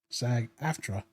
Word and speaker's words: SAG-AFTRA: SAG-AFTRA, and the whole contract issues and disputes about video game companies using your likenesses with AI without paying you.